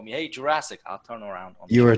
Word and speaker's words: Jurasek: Pretty close, but Jurasek. Jurasek with silent J. Then there is Sh in my last name, but Jurasek, just like the movie, is fine.